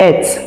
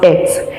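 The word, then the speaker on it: עת: are in your hands, the word is pronounced et. It's pronounced et, and it's in 6255.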